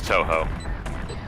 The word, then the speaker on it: Touhou: Is that pronounced Toho, Tuhu, or Toho? I just spelled. Toho. It's Touhou. It's Toho.